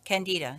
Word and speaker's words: Candida: Candida, yes.